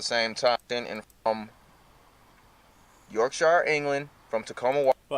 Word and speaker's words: Yorkshire: top 10 and from Yorkshire England from Tacoma WA but I know you're American stop saying it York Shire to say Yorkshire like the way you